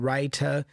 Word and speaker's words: writer: Like the true T again, writer and the R is not really pronounced like curl R like after a vowel.